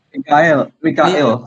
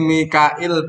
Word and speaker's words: Mikail: sing terakhir mana kok namanya Mikael. ya betul. Badanku enak malaikat Mikael ini sopo ya. Jadi Mikail bener bacanya kok kayak Mikel sopo Michael ya.